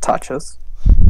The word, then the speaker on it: tachos: Just tachos. Like, you just pronounce it different, like tachos with a higher A. Tachos. Tachos. And an even shorter O.